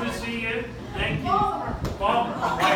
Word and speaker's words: Baltimore: Baltimore. Only two syllables.